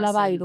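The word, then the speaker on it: Labayru: la historia de Silvia Labairú, sí. ¿así se pronuncia? Se pronuncia Lavairu, sin Lavairu, acento. Sí, Lavairu. Lavairu, o sea, con U, pero sin acento.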